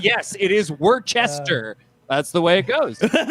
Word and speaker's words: Worcester: I went to Boston and I called it Worcester, and they all agreed that that's the correct way to pronounce it, and they did so kindly.